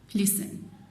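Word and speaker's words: listen: इन दोनों में T silent है, ऑफन, लिसन।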